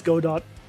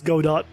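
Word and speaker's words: Godot: like I know that Uh, I know that this GDO says GDAU, but no, it's God dot. It is not GDO. is go dot cuz I tell people how they are supposed to pronounce it.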